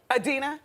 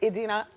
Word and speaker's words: Idina: Adina? Idina. Oh, I said it wrong. It's Idina Menzel.